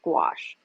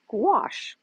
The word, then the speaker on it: gouache: come across if you're thinking about painting with gouache so what is gouache and it's spelled g u a c h e sorry